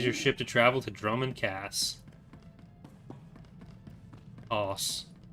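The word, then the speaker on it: Dromund Kaas: I got comment flack for calling it Drummond Cass. But I'm still gonna do it, because, made up word. I get people trying to correct me on my pronunciation of Viscount sometimes, saying, actually it's Viscount.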